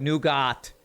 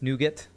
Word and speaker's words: nougat: okay you gonna spell even though it looks like new got or new guy it's nougat okay new get a schwa nougat kind of how US